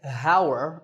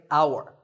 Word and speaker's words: hour: tour in number nine the spelling has an h at the start but that h is silent we don't say hower we say our the first sound is